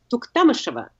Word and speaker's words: Tuktamysheva: saying her name and she introduces herself as Lisa tuktamysheva is that why Terry Gannon says to to MU Shiva and you never want to be moving on the ice but I like the tiniest skater it just seems really but she herself says it slightly differently okay so she how